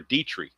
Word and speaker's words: Detry: Now, the winner on the real golf tournament was Thomas Detry or Dietry is how it's actually pronounced.